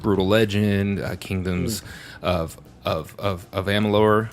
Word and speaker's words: Amalur: And I've played older games like Brutal Legend, Kingdoms of Amalur, right? Or Amalur. Amalur. And Amalur.